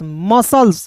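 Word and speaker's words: muscles: तो एम यू मु पढ़ेंगे। यू आया तो यू को साइलेंट। तो एम का म एस का स म स टी एल ई एस सल्स मसल्स क्या हो जाएगा मसल्स फिर देखिए एस सी तो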